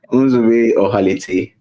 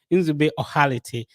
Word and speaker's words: Nzube Ohalete: Can you pronounce the name so that I don't get it? Nzube Ohalete. Okay, Nzube Ohalete.